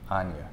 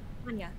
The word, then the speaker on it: Anja: How do you say your name? Anya. Anya, like it's a Y.